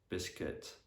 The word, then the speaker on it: biscuit: Yeah, and also there's some other words in which the letter U is silent. So for example, in biscuit, build, circuit.